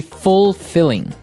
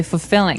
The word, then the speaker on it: fulfilling: Now notice the pronunciation. You don't say fulfilling. No, you say fulfilling. Fulfilling. So the L there is kind of silent. Kind of optional.